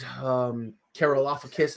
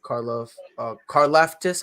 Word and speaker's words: Karlaftis: The dude from Greece, George Karlaftis is what I call him. It's actually Karlaftis, I think is how you say it.